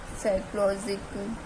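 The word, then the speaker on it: psychology: हमारा silent letter था प साइलेंट लेटर क्यों था क्योंकि य पर प के बाद एस आ गया तो हमारा साइलेंट लेटर हो गया प तो साइकोलॉजी साइकोलॉजिक मी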